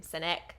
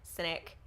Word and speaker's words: Sinek: is it simon Sinek how do you say his last name cynic cynic any Kay anyways he